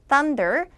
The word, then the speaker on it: thunder: 자, TH를 발음하는 팁이 뭐였어요? 시간음이기 때문에 혀가 제가 세상 밖을 구경해주게끔 하면 된다 그랬었죠. 그래서 혀도 세상을 보게끔 좀 구경을 시켜주세요. 자, TH 할 때만큼은 thunder, 선더가 아니고 thunder. 그 다음 뒤에 S 할